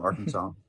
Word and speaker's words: Arkansas: It sounds like Arkansas is French. You see how they don't pronounce that S?